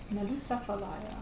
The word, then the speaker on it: Nalusa Falaya: Nalusa Falaya. Yeah. It's a I being think from it's pronounced like that.